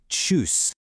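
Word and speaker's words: Tschüss: And finally, the casual way to say bye is choose. Notice that ooh with the umlot right there in the middle. It's pronounced choose.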